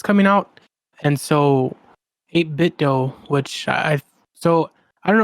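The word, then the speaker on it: 8BitDo: out and so a bit doe which I so I don't know some people call it a bit dupe but it's like spelled like a bit doe we've talked about these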